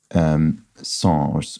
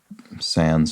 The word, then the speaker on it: sans: That would be sans, or sans, or sans, or it's pronounced various ways in English, but without.